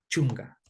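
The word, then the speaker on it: chunka: 10 que es chunga recordemos aquí que está acá suena como la G de gato chunga sí Ese es el sonido chunga chunga chunga y luego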